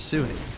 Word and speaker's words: Suni: I think I might have pronounced the name as Sunny, but I think it's Suni.